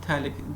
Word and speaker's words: phthalic: It is also called phthalic acid. It is also called terephthalic acid, terephthalic acid, TERE, terephthalic acid. This is called phthalic. This phthalic, PH is silent.